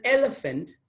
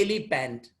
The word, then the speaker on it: elephant: call it for example elephant it's elephant not the ali band many use it many mispronounce it in this manner elephant it's wrong and elephant an elephant so